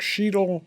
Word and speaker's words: Sheedle: his hand he says my name's sheedle rhymes with needle and my friend says